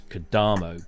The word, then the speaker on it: Kodamo: But because Stefan's surname originates in Italy, as all good things do, the emphasis is always on the penultimate syllable.